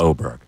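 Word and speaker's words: Åberg: That's Oberg. What'd I say? Aberg. Oh, I pronounced it right.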